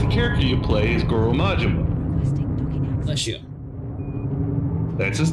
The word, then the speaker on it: Goro Majima: I have no clue how to pronounce the dude's name. It would be Goro Majima.